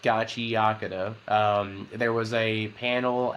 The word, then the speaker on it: Gachiakuta: All right but um yeah so it's actually pronounced Gachi Yaka um there was a panel at anime expo